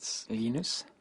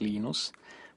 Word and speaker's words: Linus: I speak Swedish it seenus when I speak Finnish its Lee knows when I speak English it's Linus and I really don't